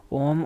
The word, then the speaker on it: ओम: ओम की जो right pronunciation होती है वो होती है आ, आओ, म। तो जब आप ओम बोलते हो तो इसकी जो सही प्रोनाउंसिएशन है वो होती है ये इसकी सही प्रोनाउंसिएशन है। पहले आ की आवाज़ आती है, धीरे धीरे आओ की, फिर आती है म की। ये इसकी करेक्ट प्रोनाउंसिएशन है।